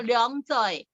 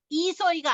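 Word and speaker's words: 兩歲: 근데 2를 2로 발음을 안 하고 령으로 발음을 합니다. 그래서 령서이 이소이가 아닙니다.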